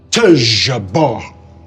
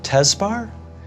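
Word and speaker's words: Tezjbar: He said, Tejaba. And I said, Tezbar? And he said, no, Tejaba. And I said, spell it. And he said, T-E-Z-J-B-A-R, Tejaba. Just like that.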